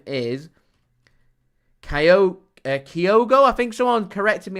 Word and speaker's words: Kyogo: His name is Kyogo. I think someone corrected me on the pronunciation in today's video.